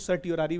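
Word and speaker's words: certiorari: कुछ सर्टियोरारी भी बोलते हैं, कुछ सर्चरी बोलते हैं, अपना प्रोनाउंसिएशन है।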